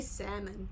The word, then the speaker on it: salmon: I say salmon. I just dropped that L altogether.